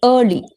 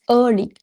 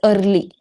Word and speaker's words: early: Now, in terms of a daily routine, the pronunciation of early, don't stress on r. It's early. Early. Not, yeah, you said it as early.